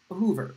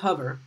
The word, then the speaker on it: Hoover: Hoover. You might think this is pronounced hover, but it's not.